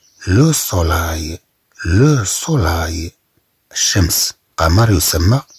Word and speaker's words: soleil: ensuite nous prenons les mots avec اي qui s'écrit avec e i l. le soleil.